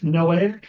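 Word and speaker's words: Noahic: the noic Covenant and if you want to remember how to pronounce it something that's helpful for me is noic it's like there's no way he's going to flood the Earth again no way no a also rhms with Mosaic Covenant but there's no way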